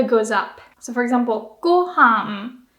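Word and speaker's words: ご飯: So for example, gohan, that's high, low, low. Gohan. And including the particle, it stays low. Gohan ga.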